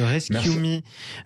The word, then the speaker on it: ResQme: Laurent Colas, vous êtes le président de Rescue.me, R-E-S-Q-M-E, prononcé à l'anglaise, ça veut dire Rescue.me, sauvez-moi ou sauve-moi.